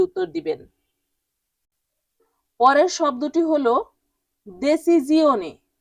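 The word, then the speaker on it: decisione: Italian উচ্চারণ দেসিজিওনি।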